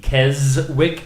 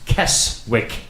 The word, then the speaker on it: Keswick: He is asking why is Kezwick pronounced like it's with a Z. Kezwick instead of Keswick.